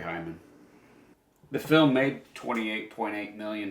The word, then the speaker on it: Haim: So Haim, like a hymen. Yeah, exactly. That's how I say his name, Corey Hyman.